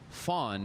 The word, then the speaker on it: van: And so you learn that a van in Dutch is different than a van, which is actually pronounced fawn in South Africa.